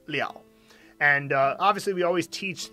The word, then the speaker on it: 了: order followed by that character that's when it's pronounced leo and obviously we always teach the most common